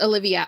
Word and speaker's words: Olivia: Pronounced Olivia.